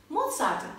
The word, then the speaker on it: Mozart: Mozart'ın ismini nasıl telaffuz ediyoruz? Mozart diye. Neden? Çünkü Mozart Avusturya'nın Salzburg kentinde doğuyor ve Almanca'da Z harfi TS şeklinde telaffuz edilir. O yüzden Mozart değil Mozart şeklinde söyleriz.